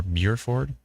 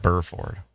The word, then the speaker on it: Burford: in uh burer buur is it b r f Rd Burford or Buford Buford bford um and he said uh very low bases on these towering cumulus need a bit more lifting and instability he said so thanks man appreciate it you as well bur for Burford it's just Burford J says Burford Alexander